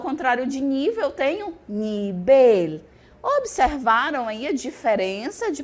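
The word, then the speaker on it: nivel: português eu tenho nível e no espanhol eu tenho nibel nibel Lembrando que o v tem som de b e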